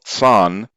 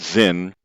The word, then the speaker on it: Zin: located in the wilderness of tsan mispronounced zinn at the edge of